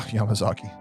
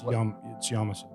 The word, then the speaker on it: Yamasa: Yeah, Yamazaki. But Yamasa or something. It's Yamasa. Yamasa, whatever.